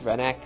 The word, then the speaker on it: Rennac: Yeah, that's how you pronounce his name. Rennac.